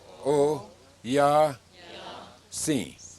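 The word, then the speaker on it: Oyasin: Now the last word has 3 syllables. O, say it. O, ya, si.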